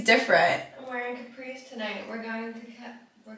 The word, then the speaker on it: Capri: too but if think all the Americans say Capri Capri but it's Capri Capri Capri Capri like capri pants oh yeah like why